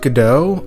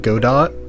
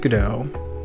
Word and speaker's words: Godot: And it's pronounced Godot. I read it Godot, but it's pronounced Godot.